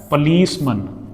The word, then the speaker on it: policeman: But if you combine these with some other word, it will be pronounced as man. That's policeman, watchman, policeman, watchman, workman.